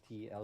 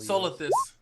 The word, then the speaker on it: Solithus: Is that, I don't know how to pronounce that, but Zostlus? Solithus. Solithus. All right. The second S is silent.